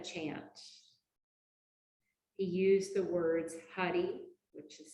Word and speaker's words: Hari: He used the words Hari, which is spelled H-A-R-I, and Om.